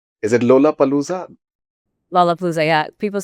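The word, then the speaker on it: Lollapalooza: I hope that I've pronounced that that that right. Is it Lola Palooa? Lola Palooa.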